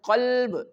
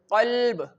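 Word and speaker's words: قلب: If I recite this word qalb, the letter qaf which have a thick sound. Okay, this letter qaf in the previous lecture you already learned that this qaf is pronounced from your throat and this qaf have a thick sound.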